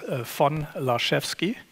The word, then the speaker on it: von Laszewski: that you've memorized us my last name is actually phonetically pronounced as fun la chefs key think about it as